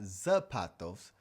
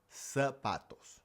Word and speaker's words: zapatos: Well, I know it's spelled with a z, but in Spanish, the z actually just makes an s sound. So, it's not zapatos, it's sa. sa patos.